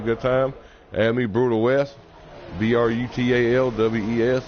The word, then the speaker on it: BrutalWes: Add me, Brutal West, BRUTALWES. It ain't pronounced Brutal Walls or Brutal S or Burt Walls or nothing like that.